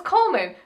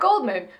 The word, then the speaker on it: Goldman: Oh, it's Coleman, not Goldman. Right. The D is silent.